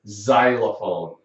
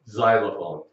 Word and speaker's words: xylophone: right like xray but it can sound like Z like in the word xylophone xylophone I mentioned xylophone earlier